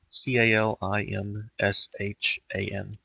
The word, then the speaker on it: Calimshan: Cal. There you go. Kalamshan. Calimshan. I'm glad I asked, because I misheard that.